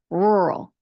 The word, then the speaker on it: rural: Now, the Earl ends with an L, but it is a dark L sound. So again, with your tongue, do not have it touch your palate. Do not have it touch your teeth. It needs to be kind of floating in the middle of your mouth.